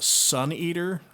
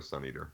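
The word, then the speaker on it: Svneatr: And Sun Eater, which is spelled S-V-N-E-A-T-R. The album is The Howl, The Whisper, and The Hunt. That's the vanity license plate spelling for Sun Eater.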